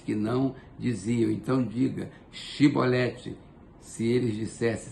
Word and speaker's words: chibolete: efraimita se respondesse que não diziam Então diga chibolete se eles dissesse sibolete sem conseguir pronunciar corretamente a palavra prendiam e matavam no